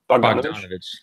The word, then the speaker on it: Bogdanovich: And I'm gonna need some help with pronunciation, but is it Bogdanovich? Bogdanovich, correct.